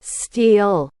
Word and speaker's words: stele: about is this dream stele. Am I saying that right? Stele? It’s one of the things I've only ever really seen written. Stellalauh. Stelly, Stellaie. Stella? St- Mm, probably not that. (Robot woman): Stee-ull (Milo): So again, this